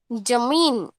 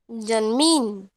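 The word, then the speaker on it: ज़मीन: और ज को नीचे बिंदी लगाया जाए तो कैसे होता है उसका उच्चारण? जमीन, जमीन।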